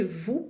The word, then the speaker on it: vous: Por exemplo, aqui, vous parlez português. Vocês veem que o vous aqui, o S, não se pronuncia.